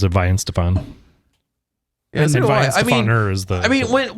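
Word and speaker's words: Weihenstephan: t-shirt and a glass and it said it's pronounced why hen Stefan what yeah and I was like Stefan Mike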